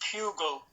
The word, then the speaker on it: Pugle: You probably, very few people know my surname, but my surname is actually, as you would pronounce bugle, it's actually with the P, it's Pugle. So you pronounce it the same as bugle.